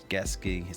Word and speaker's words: Gesicki: And we got Mike Gesicki. That's how you pronounce it.